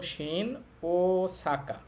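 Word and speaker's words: 新大阪: এই 5টা বর্ণের বা এই 5টা সাউন্ডের যদি একই 2টা সাউন্ড একসাথে থাকে তাহলে 2টার উচ্চারণ করতে হয় না, একটা একটু টেনে বললেই হয়।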